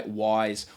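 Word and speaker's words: Wyze: brought to you by Wise Wise is an indoor camera it does it all and it's spelled Wy z e Wy Z depending on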